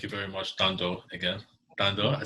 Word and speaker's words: Thando: Thando, I said it right this time.